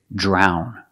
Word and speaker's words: drown: this word is drown we see the Dr making the J sound like drink and drive drown drown in the present and the past drowned with a D sound drowned drown is when you